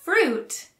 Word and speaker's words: fruit: For fruit, make sure to pronounce the R. This also sounds long and ends in a T. If you have trouble, slow it down and say fruit.